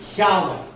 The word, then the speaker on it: Yahweh: It is Yahweh. That's how it's pronounced. It is L-O-R-D, all capitalized. It's the Hebrew word Yahweh.